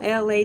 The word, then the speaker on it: Elay: It is me, LA, pronounced like LA, like the city.